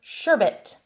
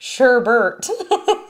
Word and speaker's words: sherbet: Do you pronounce it sherbet or sherbet? With no R there at the end. Technically, there is no R at the end of that, so nobody should be pronouncing it sherbet. Rainbow sherbet.